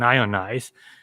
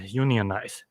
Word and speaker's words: unionized: pronounce this word so a chemist might pronounce this as an ionized a plumber might pronounce this a unionized so it's really tricky it depends on the context so that's the end